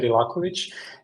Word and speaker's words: Rakovich: You you pronounced my surname correctly. Rakovich. And um I met Sasha last week at Eve Belgrid.